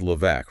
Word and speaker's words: Levesque: And wasn't that when Paul Levesque, pronounced Levesque, right?